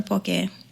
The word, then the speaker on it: poke: So on her way, she stopped at a grocery store and bought some poke to take with her. And for those who don't know, poke, it's spelled like poke, P-O-K-E.